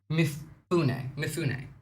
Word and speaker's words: Mifune: Anyway, on top of that, pronounced Mifune.